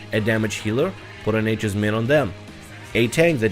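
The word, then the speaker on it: Nature's Minne: And last but not least, you also have Nature's Min or Nature's Mini. People tell me it's pronounced different ways, I just pronounce it as Nature's Min.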